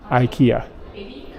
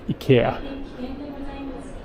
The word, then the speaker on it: IKEA: discount section uh sorry I say Ikea weird because I've lived here so long it's up my brain Ikea but in Swedish and in Japanese it's more like Ika but I think I said it more Swedish that way I don't know it's